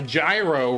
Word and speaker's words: gyro: Gyro. G Y R O Gro like a gyroscope. That's how you say it, right? Gyro. That's how they spell it. Oh, it's a euro.